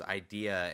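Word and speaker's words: Eyedea: battle and uh uh his his name was idea and it it's spelled e ye DEA so I like you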